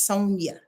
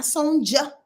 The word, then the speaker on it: Sonia: pronounce my name properly my name is Sonia not Sonja I'm just saying that's